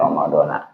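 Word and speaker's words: رمضانَ: Nah ini mah karena memang nggak ada alif lam dan nggak idopat, makanya walaupun ada huruf jer min tetap bacanya Ramadona.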